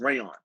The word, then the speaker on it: Rayan: I meant to tell you at the start, but it's pronounced rayon, Oh, like the Ray. fabric. Oh, Yeah, like the fabric.